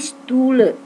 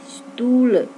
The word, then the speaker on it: Stühle: A titik 2 dibaca E. O titik 2 dibaca E. U titik 2 dibaca U.